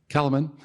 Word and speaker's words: Kahneman: Kahneman, who wrote Thinking Fast and Slow, talks about